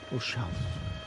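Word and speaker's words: Ozalj: Ozal. The L and the J are almost not pronounced, apparently. Ozal.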